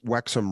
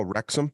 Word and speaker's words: Wrexham: call them the wexum wexham Raiders maybe I was thinking of a different team but it's the wexima oh wrexham Rex wrexham Rex W is silent oh Jesus I got